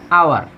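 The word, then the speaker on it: hour: এখানেও এইচের হ উচ্চারণ হচ্ছে না, এই ওটা উচ্চারণ হচ্ছে।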